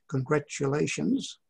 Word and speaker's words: congratulations: annoys me most uh the um pronunciation of congratulations the t is being replaced by a d yeah gradually yeah you